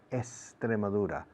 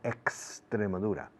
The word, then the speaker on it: Extremadura: The rule in Spanish is la X antes de un consonante es como S. Extremadura, no Extremadura.